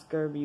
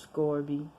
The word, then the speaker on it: Scourby: I thought it was pronounced Scurby, but this is pronounced Scourby.